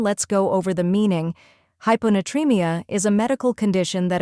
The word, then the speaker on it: hyponatremia: hon first we have hypo where High sounds like high and PO is like in polar next n tree where